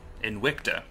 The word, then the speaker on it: Invicta: Invicta. The V is pronounced like a W, I believe, so...